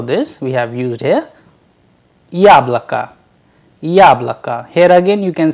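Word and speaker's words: яблоко: it has to but due to the stress on ya the o sounds like ah that is why the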